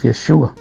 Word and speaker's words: Yeshua: Recordemos que Jesús es el nombre que nosotros pronunciamos en español, pero en hebreo es Yeshua.